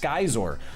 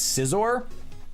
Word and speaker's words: Scizor: By the way, little known fact, if you Google Skyzor, you will discover that is actually the correct pronunciation. It is pronounced Skyzor. A lot of imposters are running around saying it's Scizor.